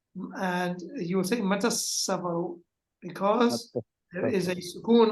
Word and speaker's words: متى السفر: When you pronounce it, you're going to join them together. So you will say, Mata as-safaru. Mata as-safaru. Because this alif is Hamzatul Wasl, the Seen is Harf Shamsi, so you will say,